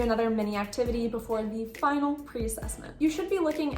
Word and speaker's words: fin: And now for the correct pronunciations. Fin, ton, bon.